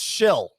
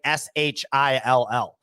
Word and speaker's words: Schill: And so I was like, oh, it's spelled like SCHILL though, or something, right? Like it must be like some kind of name. They're like, no, it's spelled like SHILL. So I was like, okay, so your last name is literally Shill.